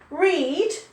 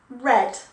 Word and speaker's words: read: she flew to canada reed becomes red but we still spell the same last night i read a book she read he read they read so that the spelling's the same but pronunciation is different go figure i don't